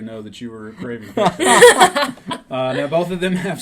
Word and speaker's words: Pietro: Yes, Pietro.